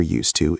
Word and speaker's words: used to: The s sound becomes soft like a snake. S and the d almost disappears into the word too.